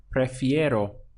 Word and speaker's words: prefiero: Now to say I prefer, it would be prefiero. Prefiero. This ending here is nice and easy to pronounce. Iero. Iero.